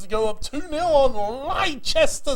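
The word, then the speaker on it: Leicester: go up 2-0 on Lester City that's the way we're told to say it by the English never said it wrong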